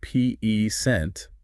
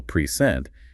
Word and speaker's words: present: totally different that's right think of the word present if you stress the first syllable peent it's a noun it means like a gift but if you stress the second syllable prent it's a verb now it means to give something wow that's a great